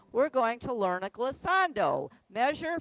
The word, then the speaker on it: glissando: Dawn, So, how do you spell that word, Cassando? glissando, it's on the sheet.